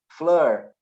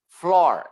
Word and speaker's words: floor: scooby doo right but the double o has also the sound of awe like floor floor door right so it has a